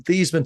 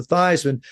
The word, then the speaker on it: Theismann: think by just simply changing the pronunciation of your last name from Theismann to Theismann to rhyme with Heisman, we can get you that trophy."